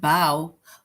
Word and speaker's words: bow: look at the word bow bow rhymes with how right so this bow